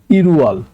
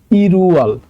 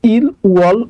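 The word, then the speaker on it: 일월: পারেন ঠিক আছে তো এটা কিন্তু আপনি ইল উয়াল উচ্চারণ করতে পারবেন না এটা উচ্চারণ হবে হচ্ছে ইরুয়াল ওকে ইরুয়াল মানে হচ্ছে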